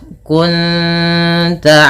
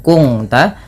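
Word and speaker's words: كنت: Cara membacanya bukan kung ta, tapi menyamarkan bunyi suara nun kepada ta dan ditahan bunyi dengungannya dua harakat. Kunta bukan kunta nanti berbeda bunyinya.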